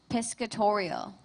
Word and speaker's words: piscatorial: Kyle, your word is piscatorial. Pesctorial. Am I saying that correctly? Piscatorial. Piscatorial. P I S C A T O R I A L.